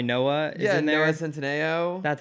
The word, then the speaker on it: Centineo: Noah Centineo. That's how you pronounce it.